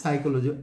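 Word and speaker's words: psychology: পি সাইকোলজি মানে এখানে পিটা সাইলেন্ট লেটার আর পুরোটা মিলে হচ্ছে সাইকোলজি, উচ্চারণটা শুরু হবে এস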